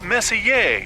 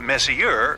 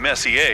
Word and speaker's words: Messier: stands for Messier pronounce Messier not Messier as in is your room messier than mine Charles Messier I mean Messa to be precise was